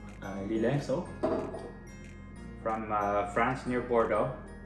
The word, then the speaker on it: Lillet: Am I pronouncing that correctly? Lillet, so.